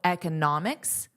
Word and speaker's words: economics: Notice there's a different syllable stress, which is why I wanted to share that. I added that here for you in the lesson PDF. And also, I underlined the syllable stress. Now, remember, it's the vowel that you will hear the longest and loudest.